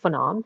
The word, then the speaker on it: Phenom: um so hi everyone my name is phenom pronounced like phenomenal you can see there